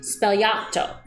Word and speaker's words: Sbagliato: so when i looked it up it's actually pronounced spellato it's a negroni spell can you say that